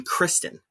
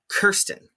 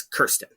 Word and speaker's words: Kirsten: the interviewer and Bernadette both pronounce her name Kristen, and it's Kirsten. Yes. And the narrator, the lady who narrates the film, she says Kirsten later.